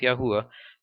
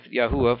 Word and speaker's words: Yahweh: and that Nation sayith Yahweh for there yours probably says the Lord is that's his name in there and I think it's pronounced Yahweh I could be wrong but you research it